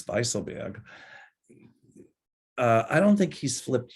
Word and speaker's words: Weisselberg: So, you know, Weisselberg, she says, actually in German it's Weisselberg.